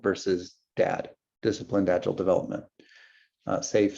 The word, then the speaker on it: SAFe: SAFe, Scaled Agile Framework, the E is silent, added to make the acronym better.